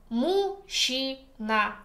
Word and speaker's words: мужчина: The next one, combination zh, ch, makes sounds sh. Мужчина.